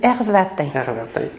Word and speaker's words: Hervatin: Ça se prononce très simplement. Mais ça, il y a moins de Everton que de Qigong.